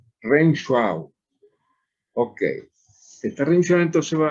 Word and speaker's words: Renshaw: región chau chau chau sé que nosotros pronunciamos a w como av renshaw ok esta revisión entonces